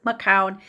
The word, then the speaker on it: Macoun: We do know that, in fact, it is Macoun because his father also was a famous Canadian. The pronunciation of the last name is very well established.